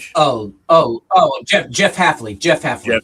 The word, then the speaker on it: Hafley: We got Chuck the which I can't pronounce. Leftley Miami. Miamiy's new coach. Oh. Oh. Oh. Jeff Jeff Halfley.